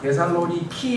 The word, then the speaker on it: 데살로니키: 왜냐하면 2004년도에 그리스 올림픽이 열렸을 때 데살로니키 해가지고 거기서 운동시합이 열려가지고 상당히 큰 도시거든요. 이 데살로니카가 지금 현재 그리스에서도. 그러다 보니까 데살로니키라고 그러죠. 그리스 발음으로는 그러나 봐요.